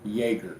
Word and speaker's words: Jaeger: And it's by a man named Ellsworth Yeager. You need to spell that. Ellsworth. And his last name is Jaeger. It's like a Nordic name, Jaeger, like Jägermeister. Ellsworth Yeager.